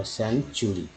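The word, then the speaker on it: century: देखिए टी यू है ना, तो टी यू यहाँ से आप ये देख रहे हैं कि चाहे उच्चारण होगा सेंचुरी। तो इसको समझ में ना आप अच्छे से समझ सकते हैं।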